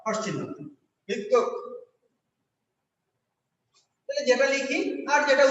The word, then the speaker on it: ভিক্ষা: ক্ষুধা প্রশ্ন নাই ক্ষুধা কিন্তু যখন লিখছি ভিক্ষা, তখন লিখছি ভি আর ক, ভিক হর্ষচিহ্ন ক্ষয়কারে খা, ভিক্ষা। তাহলে ক ক হয়ে গেছে। তাহলে ক্ষীয়টা শব্দের প্রথমে থাকলে খ হয় আর শেষে থাকলে ক ক হয়।